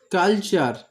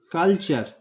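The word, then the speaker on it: culture: এরপরে দেখো এখানে আরেকটা শব্দ আছে কালচার, কালচার উচ্চারণটা ভালো করে ফলো করো। কাল, সিউএল কাল, TURE, চার, এর উচ্চারণ কিন্তু টার বা টিউর নয়, এর উচ্চারণ চার। কালচার, কালচার মানে সংস্কৃতি।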